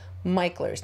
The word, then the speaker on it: Mickler's: are going to MERS Landing not MERS you pronounce it MERS now I did a little bit of research